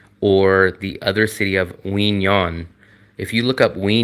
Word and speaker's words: Quy Nhon: And the city is spelled Quy, and then the second word is Nhon. Quy Nhon.